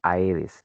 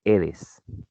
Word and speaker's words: Aedes: como lo llamamos aquí aedes no se pronuncia aedes se pronuncia eres entonces no ofreces mosquitos